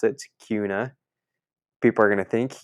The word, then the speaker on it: Kuna: in this town called Cuna it's spelled k u n a so I was calling it kuna like Hakuna Matata so I was saying